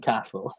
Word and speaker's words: castle: however the T again another teeth it's not pronounced so no T in Chaco no T and called no T in Castle I doubt well let's see I'm going to